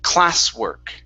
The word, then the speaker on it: classwork: So sometimes Spanish speakers, when you pronounce a W, you pronounce a G sound. Saying classwork. Okay, instead of goo, it's oo. Go to straight to an oo sound. So it's classwork.